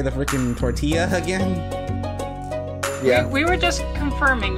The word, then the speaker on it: tortilla: browns bread aini a torella a spaghetti hold on stop right there oh my gosh this is a sin what tortilla tortilla yes that's how you say it uh tortilla radish